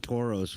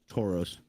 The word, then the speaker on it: Tauros: Tauros. Tauros. So it's like Taurus, but Toro.